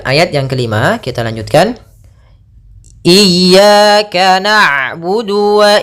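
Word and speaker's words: إِيَّاكَ: kita ulang iyaka iyaka ada dua kesalahan yang sering terjadi dalam pelafalan iyaka yang pertama memanjangkan I memanjangkan memanjangkan I apabila dipanjangkan huruf i-nya banak contoh iyaka salah karena dia memanjangkan yang kedua adalah menahan iaka itu salah juga usnya dia cukup menekan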